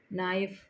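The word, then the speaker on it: knife: L silent है right नाइफ इसमें से वर्ड ढूंढना है के इसमें से के साइलेंट है है ना वॉक में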